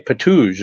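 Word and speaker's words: Ptuj: It's spelled P-T-U-J, Patuj, as you would pronounce it in English.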